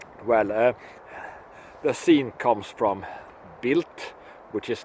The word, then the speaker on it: Bild: It's spelled Bild, but pronounced Bild because it's German and they can't spit out the toned D in the end.